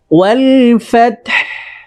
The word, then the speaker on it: الفتح: فتح খেয়াল করুন, ফাত বলে ফাতহ শেষে একটু হায়ের উচ্চারণটা বের করে দিতে হবে, ঠিক আছে? ওয়াল ফাতহ, ওয়াল ফাতহ, ওয়াল ফাতহ।